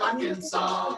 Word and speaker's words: Arkansas: Utah, Columbia, South Carolina, the S is silent in Des Moines, Iowa, and also in Little Rock, Arkansas.